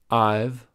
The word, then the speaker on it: I've: as there or there I've rhymes with five you've rhymes with move